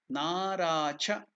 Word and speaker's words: naracha: Now here na is dirgha, it's not na, it is na. So dirgha, na. Then ra is also dirgha, ra. Second 2 unit of time. Cha is hrasva, naracha mudra. Okay, now you got the pronunciation, naracha mudra.